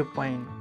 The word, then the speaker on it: पाइन: अब देखिए, नदी के पानी, पानी को मैथिली में पाइन बोलते हैं, पाइन, पाइन, पाइन। पानी का जब उच्चारण होगा वो पाइन, ई का मात्रा आता है पा के बाद, पाइन, पाइन।